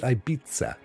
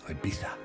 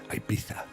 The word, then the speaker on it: Ibiza: think in America sometimes well Germans call it Ibiza they pronounce the Zed like it's Ibiza and a lot of Americans pronounce it Ibiza but of course it's Ibiza Ibiza is how they pronounce it on the aisle